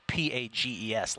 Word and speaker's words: Pages: the Dodgers Andy PES it's spelled uh p a GES like Pages pages right so Andy P PES